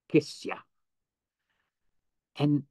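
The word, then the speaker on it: ksya: s y a k kiss and kiss it falls on the first syllable kiss Kissa which means something mystical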